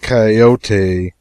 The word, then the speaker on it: coyote: If I remember rightly, this latter was a regular coyote, pronounced Cayote, of the farther deserts.